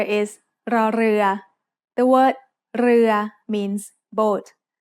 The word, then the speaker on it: ร: In other words, this is an R sound with a trill. Not everyone can make this sound easily, but you can get better with practice. When รอเรือ is the final consonant